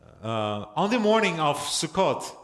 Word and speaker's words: Sukkot: Uh on the morning of Sukkot, Sukus, Sikus pronounced it.